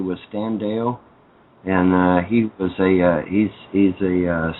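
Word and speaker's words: Deyo: But yeah, it's Stan Deo. And Deo is spelled D-E-Y-O.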